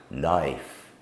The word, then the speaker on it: knife: and some words and the K is silent we simply make the sound n as in KN no knife not L is often